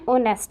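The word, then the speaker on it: honest: Third हो जाएगा अमन इज़, एन ओनेस्ट आएगा, एच साइलेंट रहेगा, आपका ओनेस्ट देखना है, ऐसे स्टार्ट हो रहा है ना, तो ये सवर है, सवर के साथ एन लगता है।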